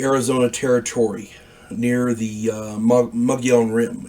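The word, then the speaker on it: Mogollon: territory near the uh mugg young Rim it's it's spelled m-o-g-o-l-l-o-n pronounced mugion I was uh low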